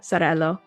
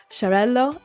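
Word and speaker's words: Xarel·lo: those traditional varieties maabo Sello I always say I always say it with a z I need to say it like the sh shello and Parada anyways I'm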